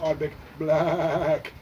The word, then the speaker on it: Ardbeg BlaaacK: edition of the Arctic Black Sun of the Arctic black that's how you should pronounce it hence anyway a lovely lovely new